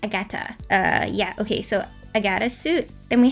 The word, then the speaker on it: Agata: suit so far is Agata suit. I feel like that's such an awkward name to have, like Agata, because it's not like Agatha, but it's like Agata.